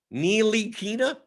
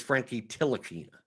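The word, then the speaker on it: Ntilikina: you have to phonetically neelykina okay so so jonathan loriano says it's a silent t i always thought it was a silent end i thought it was frankie tilikina so it's frankie nilokina nealy kina nealykina why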